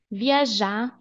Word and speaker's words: viajar: Viajar. We don't pronounce the R.